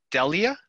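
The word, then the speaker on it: Dele: So D-E-L-E is Delia? How do you pronounce her name? Deli. Deli. Like where you eat. Yeah, like a sandwich. Like the sandwich shop.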